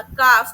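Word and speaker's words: calf: काफ। काफ में L silent हो गया। ठीक है?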